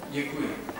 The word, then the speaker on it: Děkuji: Děkuji.